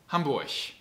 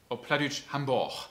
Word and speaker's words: Hamburg: aussprache weniger streitbar ist das thema gch hamburg hamburg das ausland energie das g am ende wird immer ein ch guten tag das ist